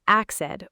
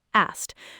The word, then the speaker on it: asked: Many people add an extra syllable and say axed or drop the k entirely and say asked. The correct pronunciation is asked. Just one syllable with a kt sound at the end.